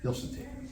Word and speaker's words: Hilsentiger: We've got Dave Gill, Linda Butland, Brian Butland, Ray and Kathleen Hilsentiger. That's how I pronounce that. Did I pronounce that right? Hilsentiger. No Z. No Z. S. Yes. Oh, got it. Thank you. Hilsentiger.